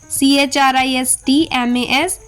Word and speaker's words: Christmas: पहले L आ रहा हो तब T लेटर साइलेंट होता है. जैसे LISTEN listen, CASTLE castle, CHRISTMAS Christmas, SOFTEN soften, fasten, whistle, ballot, bustle.